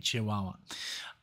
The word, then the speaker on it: Chihuahua: That's how you say it, Chihuahua.